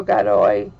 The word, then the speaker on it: Godoy: God, I pronounce it Gaudi, but Arturo Godoy.